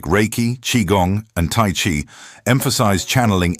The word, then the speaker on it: Qigong: Like in Qigong, which is an ancient Chinese mind-body practice that